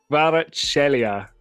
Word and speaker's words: Kvaratskhelia: How do you pronounce it? Kvaratskhelia.